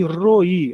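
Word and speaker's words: רֹעִי: R o ponto em cima que é o O aqui o A que não tem som. O hiric gadol, né? O i, o pontinho embaixo mais um iod. É. Então nós temos roi.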